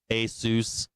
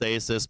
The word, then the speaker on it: Asus: Asus, I think it's pronounced Asus, but I say Asus.